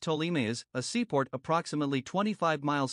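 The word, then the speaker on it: Ptolemais: 7 the next stop was talameh pronounced tolimius a seaport approximately 25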